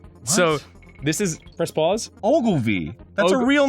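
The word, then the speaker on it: Ogilvie: e Maurice Hedgehog so this is press pause Ogle V that's a real name is that a real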